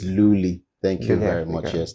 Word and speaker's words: Lohli: the pronunciation right for Luli cuz we hear several versions of it. Some will say it's Lolly. So, I said just put the pop so you know you're selling Luli pop.